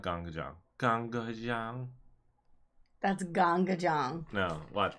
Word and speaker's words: GANGgajang: GANGgajang.